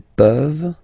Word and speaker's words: peuvent: pouvons, vous pouvez, ils peuvent, elles peuvent. Okay, as usual, this ending, this ENT ending, you write it, you don't pronounce it. Okay, peuvent, peuvent, peuvent.